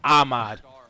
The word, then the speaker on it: Ahmad: mean it's Ahmad yeah it's two A's Ahmad right he probably got tired of people mispronouncing it's not Ahmad it's Ahmad that's what's done what's